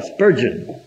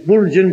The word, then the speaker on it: Spurgeon: Tengo que pronunciarlo mal para que me entiendan de quién estoy hablando. Se llama Spurgeon. Pero tengo que decir Spurgeon para que me entiendan.